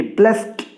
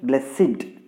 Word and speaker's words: blessed: He blessed me. You should not say blessed.